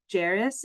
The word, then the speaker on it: Jairus: Wilson, but I just want to say, Jairus, it rhymes with Paris.